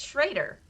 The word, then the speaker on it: Schrader: schraeder so I'm like I try to say Schroeder and they're like what are you saying that's wrong it's Schrader so I'm like what but what they're like he pronounced the second vowel not the first vowel so I'm well I